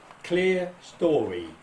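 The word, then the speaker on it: clerestory: it in writing that you pronounce these clear story carriages not the attempts that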